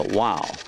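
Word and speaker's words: واو: The wow. And that becomes, wow is pronounced oo, so that would be shoe.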